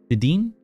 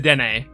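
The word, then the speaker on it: Dedenne: Oh my god, you've said it wrong, and now all I can picture in my head is saying it wrong. It's the Dene.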